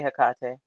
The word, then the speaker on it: Hecate: Some people say Hecate and some people say Hecate. So you're not wrong either way.